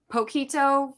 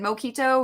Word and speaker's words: poquito: I meant to say was it poquito for little, but I said moquito, which apparently means like booger or something like that. And the group I was with was dying laughing because I had no clue I said it wrong, and they weren't telling me.